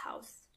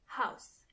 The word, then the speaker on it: Haus: The house in German means das Haus. Das Haus. When it comes to pronunciation, it's the same as in English, but you have to keep in mind how the word house is written.